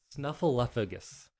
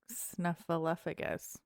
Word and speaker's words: Snuffleupagus: Snuffleupagus. Okay, I've been saying it correctly, I guess. But it's weird because it has a FLEU in the middle. Like flu.